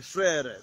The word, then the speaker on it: frère: It is written frère, so frère, frère.